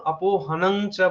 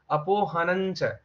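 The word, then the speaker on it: अपोहनं च: তখন হুম এইভাবে তুমি তখন অপোহনংচা বলবে। কিন্তু এখানে যে চ, তখন আমরা বলবো চা ছা যা যা নিয়া, তখন এটার উচ্চারণ হবে অপোহনঞ্চা।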